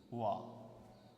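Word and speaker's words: は: এই হা এর উচ্চারণটা যখন পার্টিকেল হিসেবে ব্যবহৃত হবে তখন সাধারণত এটার উচ্চারণ হবে ওয়া।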